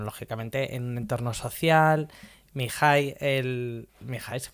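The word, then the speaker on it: Mihály: ¿Mihai se pronuncia? Sí, Mihaly.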